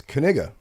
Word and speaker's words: Knigga: And the K is not silent. It's Knigga.